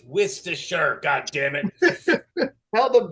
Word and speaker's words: Worcestershire: Okay, it's Worcestershire. God damn it! Hell, the Brits even have a hard time. Well, I mean, pronouncing it.